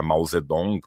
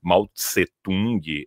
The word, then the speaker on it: Mao Zedong: A gente usa hoje a Mausedong porque ela vem do pinimin, né? Ela é mais próxima a pronúncia original no mandarim. Maltsetung é do Wes Giles.